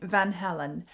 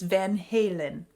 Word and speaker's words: Van Halen: In my first half and in my announcement, I was saying Van Halen, and a lot of you have called me out on that and said it's Van Halen.